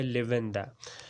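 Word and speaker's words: lavender: तो हम British language में करेंगे, उसमें आर साइलेंट है इसमें, और इसका जो प्रोनाउंसिएशन है वो है लेवेंडा।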